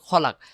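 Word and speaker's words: خَلَقَ: পরে মিনসারি মা খালাক খালাক হবে না এখানে হবে খালাক তো এইরকম কিছু ভুল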